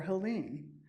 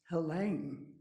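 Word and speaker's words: Helene: So for as long as I've known about her books, I've called her Helen. Turns out it's pronounced Hela.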